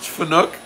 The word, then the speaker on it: Fanuc: No, I have to repeat it because if you're watching this as a video, Tuck says, isn't it pronounced Fanuc?